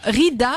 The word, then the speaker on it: Ridha: Alors Rida, ça s'écrit R-I-D-H-A, plus loin.